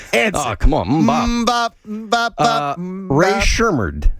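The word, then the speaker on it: Rae Sremmurd: Ray Shermard. I'm pronouncing that name correctly. You are pronouncing it correctly.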